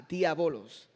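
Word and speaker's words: diábolos: Y diablo proviene de la palabra griega diabolos, con acento en la A, diabolos.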